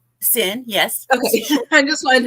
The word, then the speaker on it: Cyn: sin to the show hello hello am I pronouncing that correct sin yes okay I just wanted to make sure